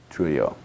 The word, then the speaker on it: Trujillo: assassinations of DM, and I think it's Trujillo is how it's pronounced. Trujillo, thank you.